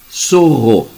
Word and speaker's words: sorro: Sorro, zorro, entre parênteses, ver guaraxaim, adjetivo, em sentido figurado, manhoso, dissimulado, astuto, matreiro. Abre um colchete. Sorro corresponde à pronúncia do espanhol zorro, com Z.